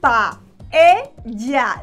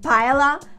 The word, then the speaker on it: paella: Careful with the pronunciation. Pa-e-ya. Smile in that E. Pa-e-ya. Please do not say paella, and do not say paella.